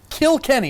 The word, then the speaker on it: Kilkenny: Now you had went off to Kilkenny. And that's how you say it, correct? It's like South Park.